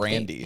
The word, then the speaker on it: Grande: Like one, Ariana Grande's name is not Grande. It's like Grandi or something. Grandy.